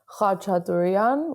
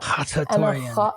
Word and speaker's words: Khachatourian: So in Armenian, it would be pronounced Khachatourian with the ch, like that. Khachatourian, yeah.